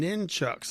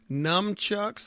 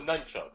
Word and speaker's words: nunchucks: It sounds like you're saying ninchucks. Like I've always heard numchucks, like N-U-M, or none, N-U-N, nunchucks. But it sounds like you're doing a different pronunciation. Let's go with nunchucks.